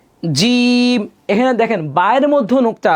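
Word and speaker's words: جيم: কি কি খেয়াল করেন, নুক্তাযুক্ত হরফ মোট 15টি হলো বা, বা, বা, আমার সাথে বলেন, বা, তা, সা, জিম, শক্ত করে জিম।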